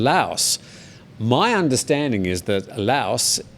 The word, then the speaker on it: Laos: my understanding is that laos you do pronounce the s but when you're using it as an adjective you say lao so the lao people